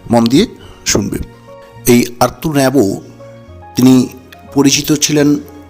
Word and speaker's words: Rimbaud: জন Nicolas আর্তুর Rambo, তো তোমরা বানানটা দেখে হয়তো মনে হবে যে এরকম উচ্চারণ কেন করছি। অ্যাকচুয়ালি উনি একজন ফ্রেঞ্চ পোয়েট, ফরাসি কবি, তো তাই উচ্চারণটা এরকম।